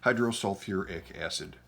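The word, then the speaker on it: hydrosulfuric acid: h2s hydrogen with sulfur hydro you might think selfic acid it's not bad but for sulfur and phosphorus they throw in the extra syllable hydro sulfuric acid we did this earlier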